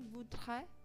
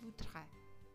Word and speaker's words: voudrait: Je voudrais, tu voudrais, il voudrait, elle voudrait, nous voudrions, vous voudriez, il voudrait, elle voudrait. Je, tu, il, elle, baik jamak atau tunggal dibacanya sama, voudrait, voudrait, voudrait, voudrait.